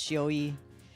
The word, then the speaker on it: Shioi: A friend of ours, Shioi, that's 401, pronounced Shioi, he took my concept